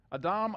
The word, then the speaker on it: Adam: Speaking of which, Adam, Adam, Adam, Adam, Adam. Now, why do I say it that way? Because that's how you pronounce it in Hebrew. It's not Adam, it's Adam.